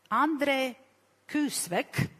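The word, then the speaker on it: André Küsvek: So, our two other panelists is Andre Kusvek. Have I pronounced correctly?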